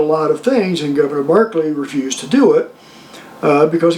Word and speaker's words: Berkeley: by the name of Barclay. Now, if you see it on paper, it looks like it's spelled Berkeley, but it's actually pronounced Barclay.